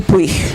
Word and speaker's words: Puig: was a bit tired of magic realism, Manuel Puig, I'm thinking. Manuel Puig, his surname is short. I can spell it for you if you want to Google him, Puig.